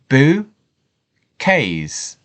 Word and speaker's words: bouquets: look in more detail about how we would pronounce this boo case and again excellent so the definition is this